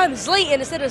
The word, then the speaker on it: Zlatan: Zlatan Ibrahimovic, and I asked a question about you.